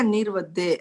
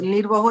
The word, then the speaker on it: निर्वहो: सुख संजम जात्रा निर्वहो, निर्वहो है या निर्वदे? कुछ दो अलग प्रोनाउंसिएशन आती है। आपने बना लिया है निर्वते छो, है तो निर्वहो छो जी। हाँ, तो निर्वहो इज करेक्ट, राइट?